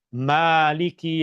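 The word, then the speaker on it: مالك: Perkataan Malik, huruf mim dibaca dengan baris fathah tanpa huruf alif dibaca pendek. Maliki yaumiddin. Dan Rasulullah sallallahu alaihi wasallam juga mengajarkan ayat yang sama, perkataan yang sama dibaca dengan cara bacaan yang berbeda, yaitu dengan membacanya dua harakat.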